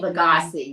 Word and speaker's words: Lugosi: In 1882, Bela, how do you pronounce that? Lugosi? Lugosi, yeah.